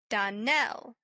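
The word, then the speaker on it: Donnell: Darnell accent on the last syllable and St.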